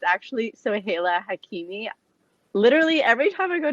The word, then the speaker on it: Soheila Hakimi: it's hilarious when i see people try to pronounce my name i know it's a really really tough one it's actually so haila hakimi literally every time i go to starbucks though